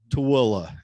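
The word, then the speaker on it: Tooele: or two ellie say it for me brother to willa it's uh it used to be spelled like it's sound but um it got changed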